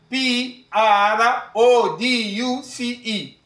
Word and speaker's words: produce: finally our last word is spelled as a p r o d u c e and it is pronounced as a produce repeat after me produce